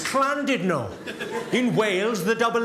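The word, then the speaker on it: Llandudno: out and said it's lovely to be in landid no this guy front and center where you're sitting there face like Thunder went it's not landid no you bloody fool it's cland Dido in whales the dou L is pronounced with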